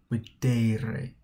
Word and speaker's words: videre: All right, notice the difference in pronunciation between second and third. We've got video, videre.